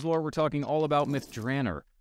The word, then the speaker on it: Myth Drannor: we're talking all about myth dranner or as I said myth drainer when I was pitching this idea to Ed Mr Greenwood ever gracious reminded me that it's probably pronounced that way somewhere in the Realms right so uh go